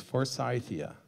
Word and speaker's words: Forsythia: If it's named after a person, you use even the regional pronunciation of his name. So it's Forsythia.